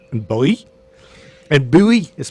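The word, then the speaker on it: Bogø: of Falster and the islands of Moon and Bowie. You're really nailing these. That's actually how pronunciations.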